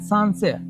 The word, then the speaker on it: Sancerre: So we call it sancerre.